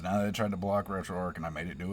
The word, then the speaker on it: RetroArch: We're going to grab Retro Arc. I know everybody's like RetroArchch. Retro Arc. I call it Retro Arc. I don't care how anybody else pronounces it. That's how I pronounce it.